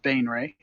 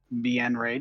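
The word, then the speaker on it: Baenre: powerful drow archmage gromf bain ray bien ray depending on your pronunciation uh after a short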